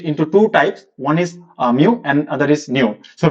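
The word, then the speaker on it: μ: This is pronounced as mu.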